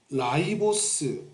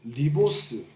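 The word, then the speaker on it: ribose: 이거 라이보스 리보스 뭐 이거 한국 발음 발음의 문제야 이거 라이보스라고도 하고 리보스라고도 하는데 디옥시 라이보스는 그러면 디옥시만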